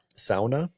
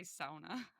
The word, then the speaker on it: sauna: The original found pronunciation is sa with the first syllable rhyming with cow or sa.